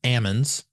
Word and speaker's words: Ammons: So, so, so, um, you were right. The first time pronouncing their name, it was Ammons, not almonds.